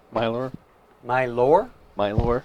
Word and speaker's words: Mylor: milbar all right mylor my lore my lore spell it again m-y-l-o-r wait i misspell it m-y-l-o-r yes my lore like my lord but you know got too lazy to finish the sentence well my lore as